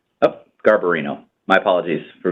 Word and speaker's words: Garbarino: 2 part Republican first first candidate is Andrew garbino oh Garbarino my apologies for mispronunciations of any names no worries the first